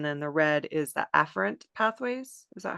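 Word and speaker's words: afferent: is sympathetic and then the red is the affrant pathways is that how you pronounce that an yes yes so the afren pathways are the pathways going from the body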